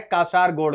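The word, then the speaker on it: Kasaragod: ये देखिए एक केरल का ये एरिया है कासारगोड़। कौन सा एरिया है? कासारगोड़। तो कासरगोड़ या कसारगोड़ आप इसको प्रोनाउंस कर सकते हैं, कासरगोड़ आप देख सकते हैं, या केरल का मैप है।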